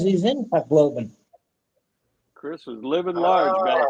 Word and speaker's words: Tacloban: If you say it correctly, it's Tacloban. But if you just a regular redneck, you'll say Tacloban. Oh, okay, yeah. Well, Yeah. that's how they pronounce. That's how my girlfriend pronounces is Tacloban. Yeah, they Yeah. accentuate the middle part of the word, Tacloban.